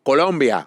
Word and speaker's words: Colombia: Instagram, from Colombia.